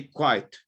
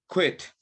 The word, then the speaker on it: quit: Repeat after me. Quit. You say quiet or quake. Quit. Renunciar, right? Quit. That's how you say it.